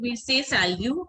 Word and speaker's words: salut: We say salut, and the way we write it is salute, S-A-L-U-T. But we pronounce it as salute. T is silent.